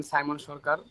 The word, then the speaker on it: সাইমন সরকার: আমার নাম সাইমন সরকার।